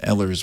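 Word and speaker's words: Ehlers: So, what we do is we work with a group called Ellers, which is spelled E H L E R S.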